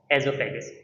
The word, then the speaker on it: oesophagus: आपने इसको ई से पढ़ना है। ठीक है? ओ नेक्स्ट साइलेंट है। एजोफेगस।